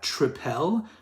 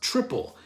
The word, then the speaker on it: tripel: was like is that tripel but apparently it's just pronounced triple and what a triple